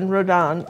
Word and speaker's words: Redon: Okay, and if you guys want to remember who that was Rodin? Yeah, well, I don't know how you say it, but yeah, it was. And it just. Well, don't ask me. Well, it's Redon, Odilon Redon.